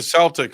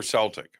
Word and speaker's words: Celtic: Is it Celtic or Celtic? Celtic. See, Everyone that's says it wrong because of the basketball team.